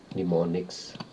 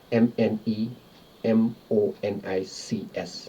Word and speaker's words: mnemonics: have is mnemonics this is how it is pronounced mnemonics and how it is spelled m n e m o n i c s mnemonics what it means it means tricks that